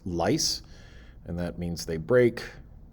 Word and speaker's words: lyse: Cells expand, or what is pronounced lyse, and that means they break and they go boom.